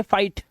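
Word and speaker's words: fight: से ही पढ़ेंगे, और जीएचटी में जीएच साइलेंट होगा, सिर्फ टी को पढ़ा जाएगा। अब यहां पर देखो एग्जांपल्स आपके सामने, ये देखो आई के बाद जीएसटी, तो जीएच साइलेंट है तो ये पढ़ेंगे फाइट, लाइट, राइट, नाइट, माइट और टाइट।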